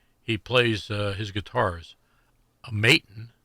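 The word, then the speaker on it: Maton: plays uh his guitars maon I think that's how it's pronounced m a t o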